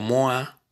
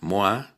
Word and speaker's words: moi: dos maneras es decir como moa eh moa que se escribe Moi es una manera de